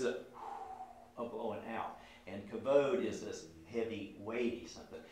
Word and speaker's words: kavod: Kavod. Right? So even in the, a lot of times Hebrew words have embedded in their the syllables, a hardness, k, v, d, right? Those are hard consonants.